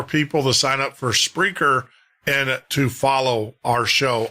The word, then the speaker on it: Spreaker: sign up to Spreaker, that's spelled S P R E A K E R, not speaker, but Spreaker. There's an R in front of the E.